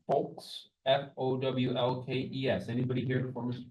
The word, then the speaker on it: Fowlkes: It's pronounced Folks.